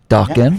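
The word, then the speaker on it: Dokken: Dawkin rhymes with Rockin', Joel.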